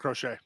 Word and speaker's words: Crochet: I assume it's pronounced Crochet, right? Yeah, Garrett Crochet.